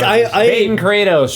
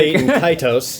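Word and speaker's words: Baten Kaitos: Bait and Kaitos. There you go, Kratos, that's yeah. it. That's how you say it.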